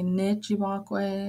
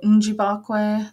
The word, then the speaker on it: ninjibakwe: You could say nijibakwe, ninjibakwe. A lot of my teachers are Eastern dialect, so I hear them mostly go njibakwe. The N is just like a small sound at the beginning, so that's what I tend to do.